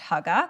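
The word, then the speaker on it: hygge: a concept called how I'm pretty sure it's pronounced Hugga h-y-g-ge if you've spent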